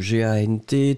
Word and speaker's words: gant: le premier, hein, donc G-A-N-T, T final qui n'est pas prononcé, G avec, en tout cas suivi du A, on se souvient que le G va être prononcé comme un G-G-G-G, donc vous avez après uniquement la nasale, en, en, en, en, G-A-N-T, gant, gant, gant, gant, d'accord.